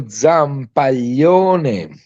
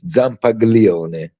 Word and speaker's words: Zampaglione: It is Federico Zampaglione. I mean, it's very long family name. And, every time American people try to pronounce it, it's Zampaglione. but it's fine.